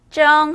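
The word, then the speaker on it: 蒸: 자, 쫑즈 기억해 주시면서 찌다는 쩡 하시면 됩니다.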